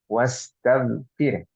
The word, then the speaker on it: واستغفر: Sama juga dengan bacaan wastaghfir. Jangan dipantulkan wastaghfir. Lah. Tapi wastaghfir. Ya.